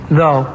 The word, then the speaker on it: though: A word ending in O-U-G-H that rhymes with blow. Though.